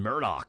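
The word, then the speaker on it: Murdaugh: Is it pronounced Murdoch, same as Rupert, but spelled different? Yeah, they've been pronouncing it Murdoch on the news, so that's how I've been saying it, Murdoch.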